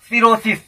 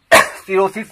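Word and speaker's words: cirrhosis: Next word है सिरोसिस, CIRROSIS, सिरोसिस. सिरोसिस तो यहां पर हम देखते हैं कि एच ओ साइलेंट है, सिरोसिस.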